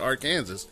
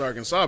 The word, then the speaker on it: Arkansas: That's why it's not spelled, or it sounded like Kansas, and that's why it's not Arkansas. It's Arkansas, because it originally wasn't spelled that way.